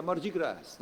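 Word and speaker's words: Mardi Gras: os franceses aí seria mar de graça né é Não pronuncio s é mais de guerra eles põem essa mas não pronunciam em Nova Orleans inclusive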